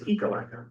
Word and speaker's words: Ekalaka: And for the record, for our friends in Carter County, recognize the correct pronunciation of the town and school is Ekalaka.